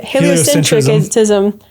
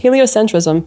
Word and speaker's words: heliocentrism: So, like honestly, like blame heliocentric centric Why can't I say heliocentricism? That's the first time I've never been able to pronounce that word. Heliocentrism.